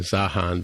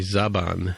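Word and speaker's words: Zhaban: I had originally pronounced it correctly in the show, but then we started calling it Zahan, but it's actually Zaban is the name of the male character, the male Romulan from Northern Romulan.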